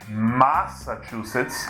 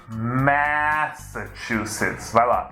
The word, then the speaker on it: Massachusetts: You need to remember that "chu" in English is if it were "tchu" in Portuguese. -Go for it. -Massachusetts. Very good! Just a little Brazilian accent, let's try to get rid of it on the first vowel. It's not "Mawssachusetts", it's "Maahssachusetts."